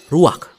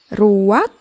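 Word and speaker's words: רוח: kehadiran Allah secara pribadi kata dalam bahasa ibraninya adalah ruak ruak ya benar tenggorokan kita harus benar-benar bersih di akhir pengucapan jadi apa itu memm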